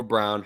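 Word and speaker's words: Braun: Chris, Christian Brown or Brown, however you prefer to pronounce it. It looks brown. He says it's brown.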